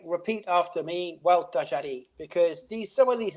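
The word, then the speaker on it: Gualtallary: I would say, repeat after me, Hualtajarí, because some of these names are extremely difficult to pronounce because they're not even Spanish.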